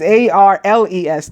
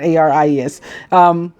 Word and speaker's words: Arles: Why did I see Aries? Arles, not Aries.